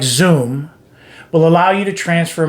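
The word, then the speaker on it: Xoom: youtube and check out zoom it's spelled x o o m it's a paypal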